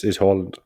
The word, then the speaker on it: Haaland: Yeah, but most people pronounce it the way you pronounce it. But the Norwegian is Haaland.